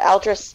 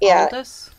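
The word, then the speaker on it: Aldous: oh my gosh I'm say it right uh aldris Huxley he wrote A Brave New world and he oh really is it Aldis Alis sorry Aldis Aldis I have a prise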